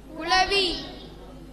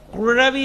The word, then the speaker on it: குளவி: குழவி அல்ல, குளவி. உழா. இந்த லா அழா வர்றக்கும் இலா வர்றக்கும் நடுவில் உலாவத்தான் நீங்க உச்சரிக்கணும். சரியா?